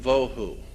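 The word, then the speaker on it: בֹהוּ: there is Tohu and Vohu. Pronunciation, it would be T-O-E-W-H-O, Tohu. That's not the way it's spelled in Hebrew, but that's the way it's pronounced. T-O-E-W-H-O, Tohu. Vohu would be V-O-E-W-H-O, Tohu, Vohu, waste, desolation.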